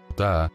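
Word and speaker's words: Ptah: Ta, que se escribe P-T-A-H, se pronuncia solo como Fat, y este ser era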